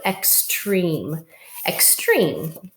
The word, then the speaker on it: extreme: So we've got treem, because this E is helping this E make a long vowel sound. So extreme.